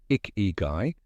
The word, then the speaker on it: ikigai: The word icky, pronounced icky guy, is made of two Japanese words, icky, life, and guy, value or worth, your reason for being.